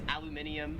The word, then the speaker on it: aluminium: put over food and what aluminium not we would call it in america aluminum here in australia it is aluminium 10 is the i'm